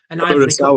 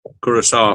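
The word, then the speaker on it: Curaçao: Curacao it is. Curacao. Found out afterwards after we'd recorded last time. Curacao? Yeah, that's how you say it.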